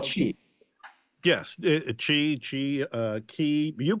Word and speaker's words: Qi: Yes, chi, you call it chi.